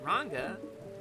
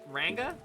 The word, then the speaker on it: Ranga: It's pronounced Ranga. Like the Aussie slang for a ginger. I I don't I don't Ranga. Ranga.